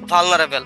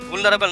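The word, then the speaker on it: vulnerable: Make food production মানে খাদ্য উৎপাদনটা highly ভালনারেবল, মানে ভুলনারেবল না, সরি, এটা রং প্রোনাউন্সিয়েশন, এটা উচ্চারণ হবে ভালনারেবল, মানে খাদ্য উৎপাদনটা হচ্ছে খুবই ঝুঁকিপূর্ণ একটা কাজ।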